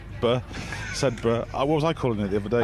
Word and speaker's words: Sedbergh: Sedbergh.